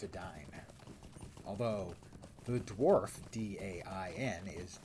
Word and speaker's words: Edain: And the name of the Elvish name for men is Edain, and for many years I pronounced it the Edain. But no, it's Edain.